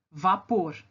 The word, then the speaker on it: vapor: Vapor. Eu falo vapor e não vapor. Vapor. A sílaba mais forte é a última.